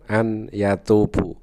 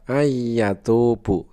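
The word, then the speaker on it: أن يتوب: Dan contoh yang kedua adalah di dalam tulisan an yatubu, itu dibacanya adalah ayatubu begitu.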